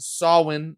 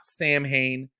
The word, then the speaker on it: Samhain: is our big sawwin i've been told it's pronounced saul win not samhain this is our big sawin two-parter for uh the